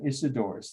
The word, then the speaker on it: Isidorus: spell them slowly two architects and themius and isidorus that's a-n-t-h-e-m-i-u-s and the second word is doris